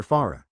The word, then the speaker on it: Fara: I've already registered under Farah. It's spelled just like how it sounds. F-A-R-A.